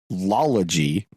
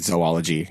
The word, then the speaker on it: zoology: Anyway, that's because you're not saying zoology, right? No. It is zo, Z-O, and then ology, right? That's all the O's match. Yes.